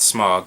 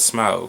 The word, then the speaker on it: Smaug: Not Smog, but Smaug. I'm going to say it like they do in the movie.